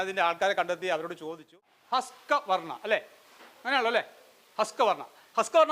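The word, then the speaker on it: Husqvarna: ഹസ്കവർണ്ണ അല്ലേ?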